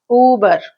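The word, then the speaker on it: Über: It shows, because of these two marks only, it is pronounced as Uber.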